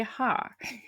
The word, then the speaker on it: Haar: Oh, like Haar. We say hair. They say Haar.